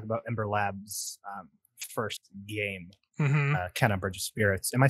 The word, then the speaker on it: Kena: They say it kind of like Kenna, Bridge of Spirits. That's how Kenna. That's usually how they it's like kind of pronunciated in the game. So that's kind of what I'm going with.